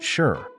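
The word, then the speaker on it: 四: probably know this one in Mandarin it's pronounced sure which sounds an aw awful lot like the word for death and guess what the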